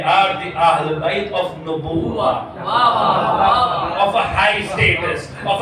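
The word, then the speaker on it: نبوة: The general pronunciation is Nabuwa, but if you read Zarat al-Jamia, it is actually not Nabuwa, but it is actually Nubuwa.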